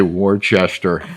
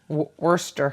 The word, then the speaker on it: Worcester: five Worcester Mass wow well how would you pronounce that wer I think I used to say Worchester until somebody somebody corrected how do you say it Worcester Worster even though it's w r c s t